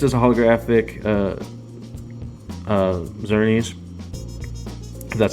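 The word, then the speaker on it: Xerneas: was it next is a holographic uh uh zurnies that's how that's pronounced and i just like the again the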